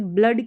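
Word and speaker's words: blood: जैसे ब्लड की स्पेलिंग लिखते हैं बी L double O डी तो यहां पर डबल ओ का अ करके उच्चारण होता है।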